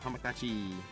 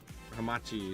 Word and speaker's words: Hamachi: Oh, I'm in the log me in the Hamakachi. It's Hamachi.